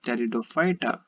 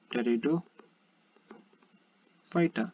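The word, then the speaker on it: Pteridophyta: basically called as uh teredo fighter teredo fighter please understand this this p is silent over here and we have further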